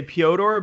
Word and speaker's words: Pyotr: Yeah, that's the reason why I say Pyotr, because he was like, "Don't call me Peter."